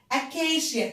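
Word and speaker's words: Acacia: أكاشيا. تعالوا نكتبه كده، اسمها شجرة الصمت. AKCA شا. السي لما يجي وراها حرفين متحركين بنطقها ش.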